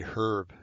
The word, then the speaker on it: herb: dad used to say herb just used to drive me crazy i know it's it but dad the h is silent no it says herb